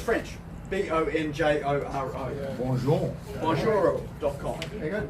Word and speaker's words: Bonjoro: How do you spell it, man? So it's French. Bonjoro.